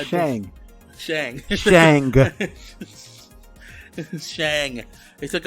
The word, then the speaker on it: Shang: again, they took out, I want to say Shank so badly. I don't know why. His name is Shang.